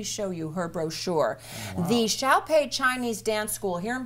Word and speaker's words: Xiaopei: now that you wrote it down for me phonetically but shall pay shall pay he guild and gelb is your